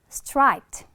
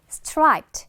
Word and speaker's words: striped: 자, 요거는 영어로 바로 striped. 따라 읽어 봐. 얘들아. striped 끝에 있는 드 발음은 그냥 살짝만 striped 요런 식으로 발음해 주고 귀에 들리게 될 겁니다.